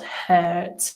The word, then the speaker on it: hurt: We have heart and not hurt. Yeah, it's one of these unusual spellings for the pronunciation. Yes. A for a heart, and hurt is more like a bird hurt.